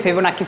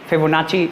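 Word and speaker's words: Fibonacci: हम लोग बोलते हैं फेवो नाकी सीक्वेंस बोलते हैं फेवो नाकी या मे बी फेवो फेवो नाची अलग-अलग लोग अलग-अलग प्रोनाउंस करते हैं तो आपको ध्यान से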